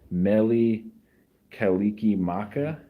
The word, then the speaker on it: Mele Kalikimaka: cuz I because I know of national lampoon's Mele Kalikimaka dad do you remember how to pronounce uh from Hawaii says Paul thank you